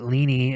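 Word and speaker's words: Leene: Some people pronounce it leany, and some people pronounce it lean. Len, I pronounce it Len.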